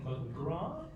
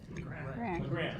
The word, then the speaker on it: McGrath: Everybody knows it's McGraw? McGrath, excuse me.